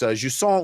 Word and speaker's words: Jusant: It is Jusant. So it looks like Jusant, but it's Jusant, which is a French word that means rising tide, I think.